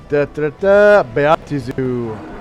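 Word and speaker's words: Baatezu: So, the first Beatizu, and that is how you pronounce it.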